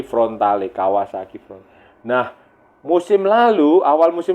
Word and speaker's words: Frontale: Di Kawasaki Frontale, kalau bacanya frontal, front dan ale, jadi Frontale, Kawasaki Front.